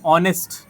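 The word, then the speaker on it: honest: तो ये ऐसे वर्ड होते हैं जिसमें एच जो होता है वो क्या होता है? साइलेंट होता है।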